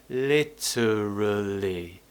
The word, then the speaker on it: literally: the word literally um you can do it with more schwa sounds for example literally so remember the schwa